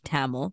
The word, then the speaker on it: Tamil: I stopped calling my language Tamil, which is the anglicized version of Mm-hmm. Tamil, and just started saying words the way they were meant to be said.